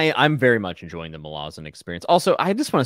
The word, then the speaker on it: Malazan: tired of people mispronouncing Malazan. And he's like, and I don't really understand why, because it's a really easy way to remember it. And he's like, the city is Malaz City.